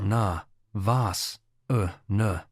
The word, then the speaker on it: Navasana: This posture is pronounced na vas uh na.